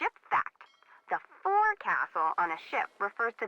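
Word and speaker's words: forecastle: ship but it's pronounced folk song why is that try pronouncing it like an English sailor with no formal education bow Castle over time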